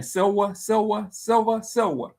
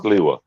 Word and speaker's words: Sliwa: I said his name Silva, the candidate for New York mayor from the Guardian Angels. How you say his name, Kenneth? Curtis Silva. Sliwa.